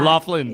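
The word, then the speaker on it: Loughlin: He Lori Lorie Laughland that Laughlin.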